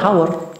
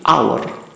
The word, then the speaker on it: hour: Ini cara bacanya bukan hour, tapi hour. Hanya di silent atau dihilangkan.